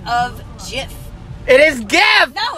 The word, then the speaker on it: GIF: It's GIF. It's GIF. Like handcuff.